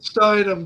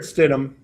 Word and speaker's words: Stidham: Can Jared Steinem get the Denver Broncos to the Super Bowl? Well, you can't even pronounce his name, so It's no, Stidham.